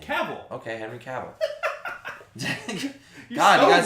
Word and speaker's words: Cavill: How does he say his name? Cavill.